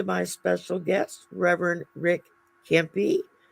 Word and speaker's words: Cempie: Welcome to my special guest, Reverend Rick Cempie. He's with a hard C, not a soft C to say.